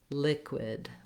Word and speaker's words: liquid: So one suggestion I have is to feel how your mouth makes that w sound and then add your k. So you might try wid, quid, liquid, liquid.